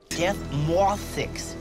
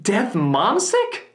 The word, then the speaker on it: Death Mwauthzyx: Death Mothix. Death Mothix? Death Mothix. Death Momsick? Death Mothix. Dick Mothsex?